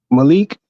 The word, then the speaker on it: Malik: pronounce m a uh m l i k Malik so how do you pronounce the i in Malik well see we